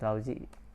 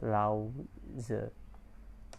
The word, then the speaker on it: Laozi: and yang so the laozi is the founder of taoism it's not pronounced lousy actually it's allow the correct me if i'm